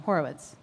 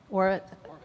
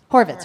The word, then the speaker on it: Horvitz: So you it it does require um which is why Richard who wait why am I pronouncing his last name? Horowitz Horvitz. Horvitz Horvitz is so great when he Do you guys know who he is?